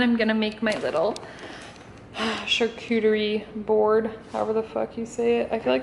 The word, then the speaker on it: charcuterie: do you say it charcuterie no the no queue sound charcuterie why are you being